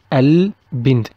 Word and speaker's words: البند: Another example, we have B is one of the blue team or the team of alphabets of Al Al-Qamariya, so we'll pronounce the word Al-Bind, البند.